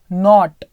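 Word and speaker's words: knot: नॉट आउट, है ना, के एन ओ टी का मतलब क्या होता है, नॉट, है ना, के यहां पर साइलेंट, नॉट आर, नॉट का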